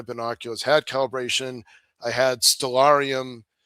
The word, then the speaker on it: Stellarium: I had Stellarium, it's pronounced Stellar IUM, Stellarium on my phone, which is